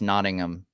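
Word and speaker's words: Nottingham: sure um oh yeah it's pronounced notingham right sorry sorry I have American pronunciations my bad next episode will be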